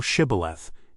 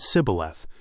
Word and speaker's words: Shibboleth: Then said they unto him, Say now Shibboleth. And he said Sibboleth, for he could not frame to pronounce it right.